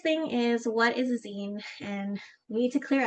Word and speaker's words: zine: So first thing is, what is a zine? And we need to clear up how it's pronounced. It is zine, kind of like magazine minus the maga.